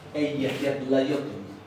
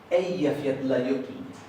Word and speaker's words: Eyjafjallajökull: Eso se pronuncia Eyjafjallajökull. Eyjafjallajökull. Bien, la palabra se separa, pero ustedes habrán notado que el acento recae acá. Los islandeses empiezan acentuando la primera sílaba y con los que